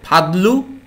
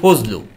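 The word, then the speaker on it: فضل: আবার দেখেন ফাদলু আমরা বাংলায় বলি ফজলু, ঠিক না?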